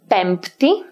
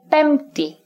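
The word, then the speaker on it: πέμπτη: Another silent letter is the P in the cluster mi, pi, taf. This is optional though. So some people, usually in formal speech, pronounce it and say pempti, Thursday, for example, while others say pempti.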